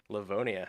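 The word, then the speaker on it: Livonia: Can we get a shout out for GGP Leavone Le I can't pronounce these names. Leavonia. Levvenia. Leavonia. That is correct.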